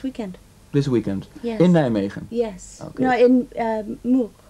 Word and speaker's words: Nijmegen: In Nijmegen, yes. Yes, am I saying it? Okay, good. Difficult pronunciation, right?